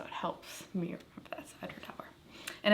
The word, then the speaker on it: Edradour: So you said that they had on their site, it's Edradour, like sour, Right. or hour. So it helps me remember that's Edradour.